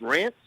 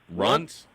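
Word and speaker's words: Runtz: popular strands RS R is it pronounced rants runs runs oh runs yeah what about like chocolate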